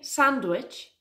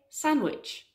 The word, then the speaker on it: sandwich: It's not a sandwich, it's a sandwich. Can you hear the difference? Sandwich, sandwich. The D in sandwich is a silent letter. We don't pronounce it.